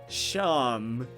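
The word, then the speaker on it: Seam: The names seem pronounced Sham. Oh, okay. It's like how Sean has a trillion different... Get out of here with that. Sham, fine.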